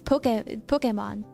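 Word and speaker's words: Pokémon: But the A, like the E with the accent is like eh. So it's Pokemon.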